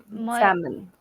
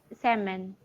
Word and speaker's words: salmon: Salon salmon. Salmon. So L will be silent.